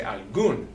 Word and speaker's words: algún: NS or vowel, so that means that it should be on the next to last syllable, which would be the A, al, al. But it's not, it's over the U. We say algún, we don't say algún, algún.